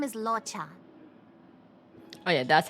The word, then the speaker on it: Luocha: His name is Luocha. Oh yeah, that's how you pronounce his name.